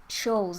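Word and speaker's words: Scholes: Shoals, that's how you pronounce it.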